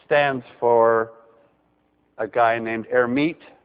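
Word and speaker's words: Hermite: for a guy named herit who didn't actually pronounce the h but let's pronounce it so I would call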